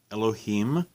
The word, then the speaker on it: Elohim: what we call in Hebrew Elohim a harem Elohim literally means gods small G gods that's why I'm pronouncing it Elohim I harima other gods gods